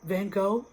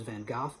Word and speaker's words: Van Gogh: I'm not going to I'm sure it's it the proper pronunciation is Van goth but I'm going to use the Americanized R version just to make it um relatable and easier Vincent Van go looked